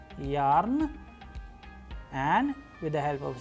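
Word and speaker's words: Я: interesting letter known as Ya, a vowel. And how do we pronounce it? With the help of English approximation word as in yarn, and with the help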